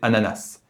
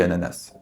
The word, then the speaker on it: ananas: s à la fin il est fréquent de l'entendre prononcer ananas moi-même je dis ananas et le narrateur du